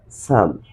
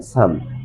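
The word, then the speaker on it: psalm: is used starting word then the sounds of the letter must be silent so what's the correct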